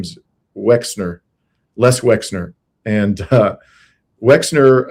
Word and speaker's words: Wexner: Yes, I'm mispronouncing his name. Uh Verina, thank you. His name is Wexner.